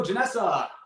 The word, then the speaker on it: Janessa: thanks for having me am i saying your name wrong janessa no i i mean as far as i know that's correct yeah okay cool well i'm gonna take it from you but that's the right one um thanks for joining